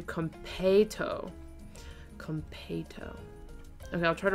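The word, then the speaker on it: konpeitō: If you really want to know, the Japanese pronunciation is closer to kompeito.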